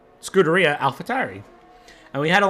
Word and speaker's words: Scuderia: Graxon, a very, very strong driver, and a lot to give there in the red Scuderia Ferrari.